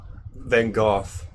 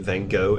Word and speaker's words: Van Gogh: Van Gogh is how the UK pronounces it. Van Gogh in America.